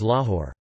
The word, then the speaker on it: Loughor: The same is true in Wales, in names such as Lahore.